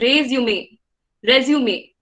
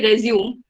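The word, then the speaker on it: résumé: This is, if you can see the accent marks, it's called resume. It's a French word, okay, which means a summary or outline, and it's pronounced as resume.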